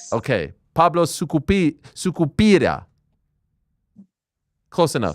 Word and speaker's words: Sucupira: AM I PRONOUNCING YOUR NAME CORRECTLY ? ? ? SUCUPIRA. YES. YES. YES. OKAY. PABLO SUKU SUCUPIRA.